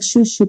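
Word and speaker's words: Zhu Zhu: group in a nutshell Juju pets sometimes misspelled suitsu pets and pronounce more like shushu pets are small electronic hamsters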